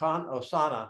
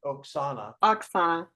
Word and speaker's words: Oksana: So Osana, I'm not saying it right. Oksana. Oksana. Yes.